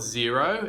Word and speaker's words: Xero: worth talking about so the brand is called zero it's spelled x ero and yet simply the